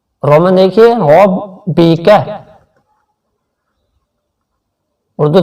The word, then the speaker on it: رَبِّكَ: اردو تلفظ فَسَبِّحْ فَسَبِّحْ بِحَمْدِ فَسَبِّحْ بِحَمْدِ رَبِّكَ. کاف بریک بھی پڑھنا ہے اور اس کو کھینچنا بھی نہیں ہے، اس را کو آپ نے موٹا پڑھنا ہے. رَبِّكَ. رومن دیکھیے رَبِّكَ. اردو تلفظ رَبِّكَ رَبِّكَ.